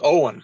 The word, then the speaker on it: Owen: That's Owen. That's how you say that. Owen? Yeah. There you go. There you go. It took me every day. Yeah. It took me many years of mispronouncing that one myself. So I was corrected at saying, hey, it's Owen.